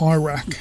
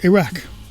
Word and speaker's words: Iraq: We would say that you don't pronounce them correctly. Like Iraq. It's not Iraq, it's Iraq.